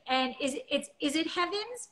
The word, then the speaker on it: Heavens: And is it Heavens? It's spelled like heaven.